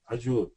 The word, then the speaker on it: Azure: Azure, or I don't know how to pronounce that.